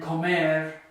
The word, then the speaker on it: comer: And then comer and vivir, common verbs you know. So to speak, to eat, to live, because they don't end in a vowel, they don't end in an N, and they don't end in an S, the stress is going to be on the final syllable.